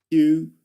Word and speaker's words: queue: But the point is that you only pronounce the Q. That's it. Let's move on. Q, because we say the letter Q as Q.